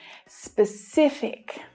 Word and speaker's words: specific: The stress is on the middle syllable here. And there are two things to pay attention to with this word. One is the consonant cluster at the start of the word. The consonant sounds S and P together.